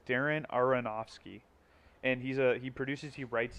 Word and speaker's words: Darren Aronofsky: his name I always say his last name wrong, but it's Darren Aronofsky, and he produces, he writes it, and you